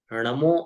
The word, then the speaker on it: णमो: नमोक मंत्र में उनमें नमो अरिहंतानम नमो सिद्धानम ऐसा बोला जाता है नहीं आप क्या कहे ण णमो अरिहंतानम पहले शुरू से शुरू में भी ण है अंत में भी ण